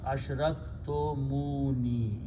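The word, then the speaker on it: أشركتموني: Now, when you read them together, okay, the sound will be ashraktum munni. It's not very good. So what we do is, for pronunciation purpose, we just add a vowel to make it easy on the tongue. So it becomes ashraktumuni. It's easy to pronounce, so we just add the vowel for the sound.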